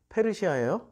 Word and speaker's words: 페르시아: 그 어 여기 있다 바사왕 바사 왕이 뭐예요 페르시아왕 이게 한문 발음으로 써나 가지고 바사 페르시아 오리지널 발음은 페르시아 페르시아왕 고레스 원년에 고레스가